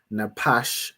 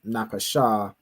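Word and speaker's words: נפש: Like like you know to pronounce this as napash instead of napasha from practice from going through the vocabulary as I do each week, right?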